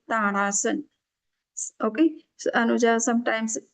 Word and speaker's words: Tadasana: So this is called Tadasana. So we have to pronounce properly, okay?